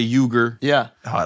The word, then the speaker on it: Uyghur: Uyghur is how you're supposed to say it. It's a Turkish word, right? Yeah, it is. They're Turkic. Yeah. Yeah. You say yogurt? I just Americanize it and say Uyghur.